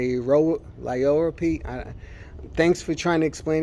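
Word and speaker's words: liriope: always say it wrong I keep saying lyriope and it's like lioro P thanks for trying to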